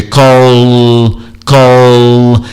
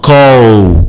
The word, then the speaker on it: call: Isso é importante, é call, e não call, como se fosse um U, onde a língua praticamente não encosta em lugar nenhum. Não, call, como se eu fosse falar cola.